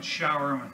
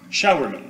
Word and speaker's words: Sowerman: You pronounce it not Rainman, but Showerman. Showerman, okay, thank you.